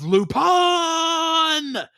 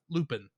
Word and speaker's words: Lupin: have to call him pronounce his name in the Japanese way of lupon instead of Lupin as is a little